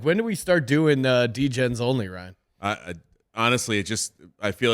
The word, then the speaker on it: D-Gen: by Fiverr where they didn't know how to pronounce D-Gen. Yes. They pronounced it Degen.